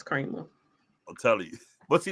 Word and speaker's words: Creamer: name is cre it says cre but it's pronounced Kramer it's Kramer I'm telling you but see that's my point